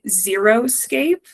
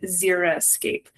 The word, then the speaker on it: xeriscape: off the bat that it is often mispronounced and sort of confused as being xeroscape, but that is incorrect. So I think it's really important that it's the word itself is actually xeric and xeriscape. Because these landscapes truly are far from zero.